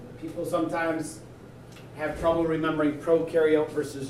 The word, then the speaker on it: prokaryote: sometimes have trouble remembering prokaryote versus eukaryote the one way i tell people to help remember pro rhymes with no prokaryotes have no nucleus you for eukaryotes you